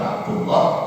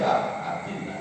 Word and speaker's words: Abdillah: Jadi kalau dibaca Rafa itu Abdullah, kalau baca Jar itu Abdillah.